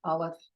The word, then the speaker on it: aleph: Aleph is silent, ayin is silent.